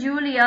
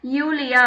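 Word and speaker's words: Julia: ஜே வந்து for example ஜூலியா அப்படின்னு பேர் இருந்துச்சுன்னா யூலியா அப்படின்னு தான் அவங்க சொல்லுவாங்க. ஸோ யாட், கா, எல், எம், என், ஓ, பே, கு, ஆர், எஸ், டே, ஓ, ஃபவ்.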